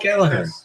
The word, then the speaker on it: Gallagher: Holy So it's pronounced Gallagher.